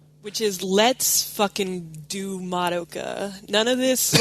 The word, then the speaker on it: Madoka: I think because you're trying to do both the Japanese, like, Madoka, but, like, the way that we would say it, which is Madoka.